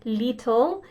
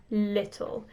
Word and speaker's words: little: people make this error the long e sound so we don't want to say little we want to say little keep the mouth nice and short no smiling don't make your mouth big this is serious serious English pronunciation little little short mouth you got it